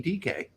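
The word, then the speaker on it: Dike: They wouldn't pronounce that Dyke in Africa. That's definitely DK.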